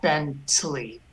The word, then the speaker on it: Bentley: The shva just goes by very quickly, but it is pronounced. There's some air that comes out on the shva. Bentley.